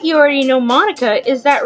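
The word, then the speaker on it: Monika: And it sounds like you already know Monica, is that right?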